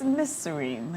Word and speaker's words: Nazarene: Let me pronounce it for you. Nazarene. It's Nazarene.